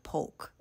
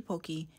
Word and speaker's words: poke: need everybody to hear this it is not poke it is not the Hokey pokei it is pronounced poke poke poke now that we